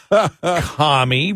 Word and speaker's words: commie: Commie rhymes with mommy.